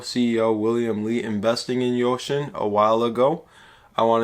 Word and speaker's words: Uxin: so today we're going to be talking about yoshin that is the correct pronunciation thank you guys for pointing that out